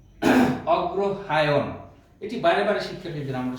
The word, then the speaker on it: অগ্রহায়ণ: অগ্রহায়ণ উচ্চারণটি হবে অগ্রহায়ণ।